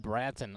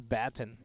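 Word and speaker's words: Batten: good as well and i said bratton i apologize it is baton i have that written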